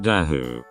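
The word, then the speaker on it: Dahu: of mountains we have the dairy pronounced da who in Switzerland which is probably related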